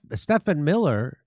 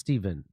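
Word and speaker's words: Stephen Miller: While Stef Stefan Miller, is that how you say his name? You see it's Steven.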